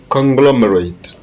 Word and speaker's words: conglomerate: T et le R sont dans la même syllabe, c'est ter. Historical. Historical. Historical. Number 5. Number 5, you have conglomerate.